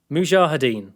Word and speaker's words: Mujahideen: He does hang on, I wrote this down phonetically. I could try and get it right. Mujahideen, there you go.